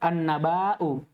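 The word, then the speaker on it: النبأ: Coba perhatikan baik-baik. An-naba'u. An-naba'u. Antum tadi bacanya apa? An-naba'u. Yang benar apa? An-naba'u.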